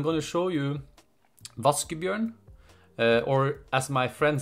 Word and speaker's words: Vaskebjørn: that quite funny but it's pronounced voskov yarn it's not like raccoon it's not like washing bear its vas give you and that's the name